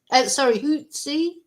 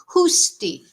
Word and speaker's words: Husti: This is Eliza and Henrietta Hutsi. Oh, somebody has let me know how to pronounce her surname. Husti. So this is Eliza and Henrietta Husti.